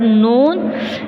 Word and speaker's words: known: Here we have the word known. Here K and N both are consonant letter, and K is mute here. We will not spell K here. We will not pronounce the letter K.